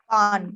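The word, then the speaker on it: paan: Pan. Pan? How do you spell it?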